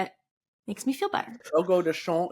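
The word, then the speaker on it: Fogo de Chão: Fogo de Chao is how I'm told it's pronounced in Portuguese.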